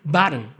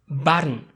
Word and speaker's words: button: Actually, to pronounce this word, you actually have to use the flap T. Just mind that the O is silent here. So you're gonna say button, button.